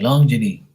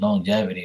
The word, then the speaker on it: longevity: go on Google and see how you say it because I was like long journey and apparently it's longevity or some [ __